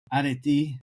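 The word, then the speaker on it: αρετή: Areti, right? I'll pronounce it the proper way instead of the Midwest way.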